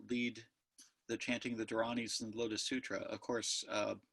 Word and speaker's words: Dharani: mnemonic device it actually it probably should be pronounced durrani like that durrani I'm just going to keep mispronouncing at the American Way though Durrani's in East